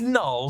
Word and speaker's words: Knull: Even the way Venom pronounces the name, it sounds like Neil, but it is Knull, K-N-U-L-L, and that similarity between